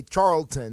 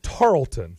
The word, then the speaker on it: Tarleton: So they're disqualified from winning the national championship because they decided to play Charlton. No, it's Tarleton.